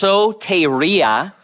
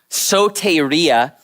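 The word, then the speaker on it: σωτηρία: Greek version right there and in English it's pronounced soia soia and it's a noun and it and it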